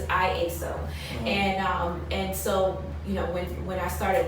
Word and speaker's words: IASO: So I know most people say lasso, or they're not quite sure how to pronounce it, but it's IASO.